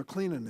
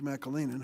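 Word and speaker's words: McAleenan: to look at when I had mr. McLennan in McLennan I mispronounced his name mr. Mackall Eynon who is a career professional DHS I asked him blank check time mr.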